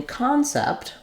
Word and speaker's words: concept: the stress lies so in concept we're stressing on the first syllable you can see that here by the mark in the dictionary before the con and letter O is going to say the a vowel so often in a stress syllable letter O says a like in hot or job that's the most common